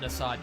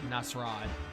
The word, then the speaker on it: Nasrad: Oh, not Nasad, Nasrad. And maybe they call it Nasir for short, because it's for short it's spelled N-A-S-R.